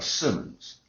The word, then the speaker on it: Simmons: different kinds of names, the way you pronounce my last name, always have, always, a Simmons. That's an S I M M O Ns Simmons.